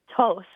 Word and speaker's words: two: them really closely so two tww is a weird one you're right it's got that W what is the W doing there any ideas I we